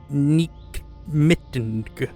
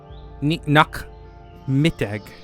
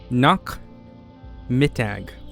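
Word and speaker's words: Nachmittag: Nak Mittag. Not Mittag. Nak Mittag. Nak Mittag. Okay, Nak Mittag.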